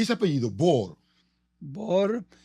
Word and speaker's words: Bohr: y es apellido boh bor es de origen alemán el papá de mi papá nació en Berlín en Alemania Así que heredé el